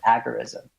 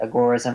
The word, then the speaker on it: agorism: Konkin, who wrote alongside Knight, he would occasionally pronounce it agorism.